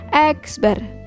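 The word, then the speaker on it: x̄: dilambangkan dengan explore Heni dibacanya itu adalah x bar bukan X Bukan x3s ya Tapi bacanya adalah x-ber nah ini adalah simbol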